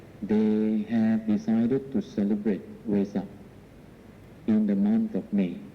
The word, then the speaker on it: Vesak: V-E-S-A-K, sometimes as W, because in the Indian language the V is pronounced as W. You know, when you ask the Indians to speak of vase, can you say vase? They will say vase. Oh, you see? So V and W. That is why we can either pronounce Vesak or Vesak.